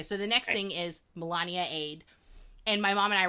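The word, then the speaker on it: Melaniade: a whole debate on how to pronounce it and I was like no no mom it's this is a parody of Beyonce's lemonade lemonade and I had to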